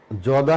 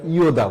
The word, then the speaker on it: যদা: আর এখানে ইয়দা, এই আমরা একটু খেয়াল করি, এই অন্ত্যস্তীয় জ যেটা আমরা বলি সেটা ইংরেজি ক্ষেত্রে যেরকম এটার উচ্চারণ হয় ইয়, অর্থাৎ আমরা যদা না বলবে আমরা ইয়দা বলবো কথাটি, তাহলে আমাদের সংস্কৃত উচ্চারণটা অ্যাপ্রোপ্রিয়েট হলো।